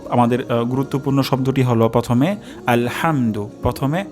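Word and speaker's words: الحمد: শব্দটি হলো হাম আলহাম এখানে হা উচ্চারণ হবে গলার মাঝখান থেকে আলহাম যদি এখানে উচ্চারণ হয় আলহাম তাহলে এটি অশুদ্ধ হবে আলহাম আলহামদু আলহামদু আলহামদু তাহলে আমি অশুদ্ধ উচ্চারণ করছি আলহামদু তাহলে এটি ভুল হবে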